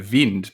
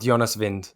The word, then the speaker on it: Jonas Wind: do the honors well i believe it says uh vind but you can never really know with these uefa pronunciation guides they can tend to be a little bit a little bit dodgy but we'll go with vind i think we'll go with jonas vind and and if if